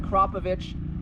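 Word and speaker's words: Akrapovič: So, going to an Acropovich. That's how you say it. Acropovich muffler does help that out.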